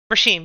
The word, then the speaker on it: Rashim: Is it Rashim? Rashim, yes. Rashim, okay.